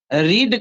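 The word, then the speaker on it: read: को हटा दीजिए और रीड को रेड कर दीजिए, तो स्पेलिंग तो सेम रहेंगे लेकिन रीड नहीं पढ़ के क्या पढ़ेंगे, रेड पढ़ेंगे।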